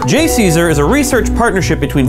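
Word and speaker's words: JCESR: for energy storage research which can be pronounced J Caesar J Caesar is a research partnership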